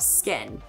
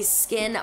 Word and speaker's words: SKKN: sold exclusively on the skin by kim website and you guys the skin is spelled s k k n and this is nothing